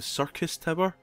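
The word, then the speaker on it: Syrcus Tower: Now, I'm not sure if I'm saying this right, but it's called the Circus Tower. But it's spelt with an S, not circus as in, like, the circus with clowns and stuff.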